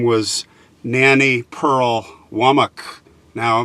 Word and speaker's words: Womack: name was Nannie Pearl Womack. Now, up north we would pronounce that Womack, but down here they pronounce it Womack.